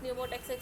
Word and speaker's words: pneumotaxic: You knows pneumotaxic center, it is pronouncing from the N, so you can call it as negative regulation, and apneustic center is pronouncing from the A, so you can remember it by addition, so plus.